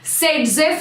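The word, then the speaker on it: Saytzeff: It is pronounced as Sedzev rule, and it is also written as SCT.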